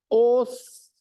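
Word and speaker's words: 押忍: bom tá escrito lá os a palavra se escreve o su o Su mas eu não pronuncio esse Su eu pronuncio os lembra do S os tudo bem tem dois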